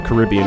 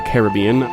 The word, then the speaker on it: Caribbean: Pronounced the Caribbean, not the Caribbean.